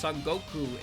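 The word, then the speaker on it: 孫悟空: the character Sun Wukong s wukang pronounced soku in Japanese from the Chinese novel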